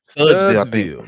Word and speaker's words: Studesville: Eric, what's how you say it? Studesville, Studsville, Studsville.